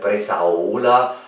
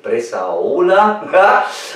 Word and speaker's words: Bresaola: Und da machen wir uns heute schöne Pasta mit Bressaola. Also ich glaube, so wird es richtig ausgesprochen. Ist auch lieber Bressaola, aber Bressaola ist wahrscheinlich das richtige Wort.